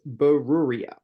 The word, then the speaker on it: Beruriyah: at rabbe meir's wife burua um who has a remarkably difficult to pronounce name but it's burua um so who's burua